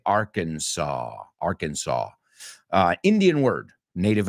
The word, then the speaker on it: Arkansas: but it's interesting because in Spain you guys say are Kansas which is weird um but yeah we say Arkansas Arkansas uh Indian word